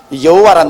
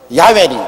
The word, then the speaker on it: 야훼: 바로 그 사닥다리 꼭대기 위에 야훼 하나님이 계십니다. 여호와란 말은 원래 올바른 히브리어 발음은 야훼입니다. 야훼란 발음이 우리 한국식으로 번역해서 여호와라 하는데 원래 정확한 발음은 야훼 하나님이신 것입니다.